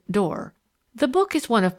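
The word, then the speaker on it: Doré: made by a man named door she pronounced it door the book is one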